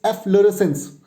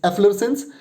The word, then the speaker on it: efflorescence: So it's efflorescence. So I am going to write down the syllables for this. So it will be EFF LUHRES will have the stress. This is the stress syllable, and sense, uns. Okay, efflorescence. It's efflorescence, and the spelling for this one is EFFLORESCENCE.